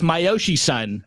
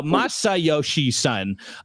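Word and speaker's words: Masayoshi Son: It's myoshi son. No, Masai son.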